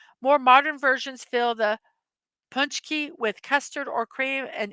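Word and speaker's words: pączki: to the Middle Ages they call it a punch key or punch key so I was pronouncing it totally wrong um or Pooch key it's traditionally a round polish pastry filled with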